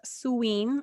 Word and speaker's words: Samhain: It's a suween.